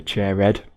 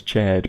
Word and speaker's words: Chairhead: I remember Chairhead, because I read his name as Chaired before the voice actor pronounced it, and I thought that was a bit of a strange name, but I guess it's slightly better when it's turned into 2 syllables.